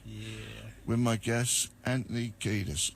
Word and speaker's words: Kiedis: With my guest, Anthony Kiedis. Am I saying it right? Kiedis? You said it better than Michigan, yeah. Kiedis. Yeah, Kiedis is correct.